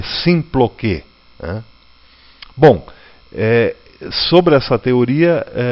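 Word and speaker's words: συμπλοκή: Né, se escreve S-U-M-P-L-O-K-E e se lê Symploké.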